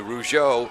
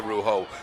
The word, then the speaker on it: Rougeau: It's a Rougeau, not a Rougeau.